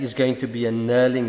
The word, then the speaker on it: knurling: going to be a knurling it's a diamond knurling but knurling would suffice so it's a silent k and your answer is